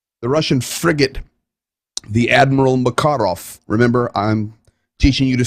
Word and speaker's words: Makarov: ukrainian slavic type languages the accent goes on the second syllable most of the time so this is not the makarov not the macarena this is the makarov this is a substantial